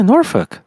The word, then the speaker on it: Norfolk: Beach I would go norfol is that really how you say it yeah norfol why dang it sounds like you're saying like the f word it's like n